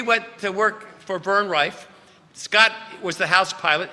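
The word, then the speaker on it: Riffe: It's R I FF E. Now is that Riff? No, it's Refe.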